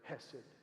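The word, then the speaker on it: חֶסֶד: It's the word hess. Hed usually pronounced with a heartache. So it's almost comes out as sounds like you're like trying to cough something up.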